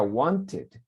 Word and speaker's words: wanted: Igual el verbo want, termina en T. Pasado suena como id, entonces sería wanted.